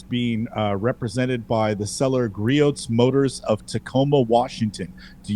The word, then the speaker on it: Griot's: Oh, Griot's. The T is silent. The T is silent. Yeah, as in Target.